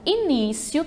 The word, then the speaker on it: início: Quero só destacar ali que na palavrinha início, tá? A sílaba tônica é o ni, portanto o acento era para estar no ni, só para consertar aqui.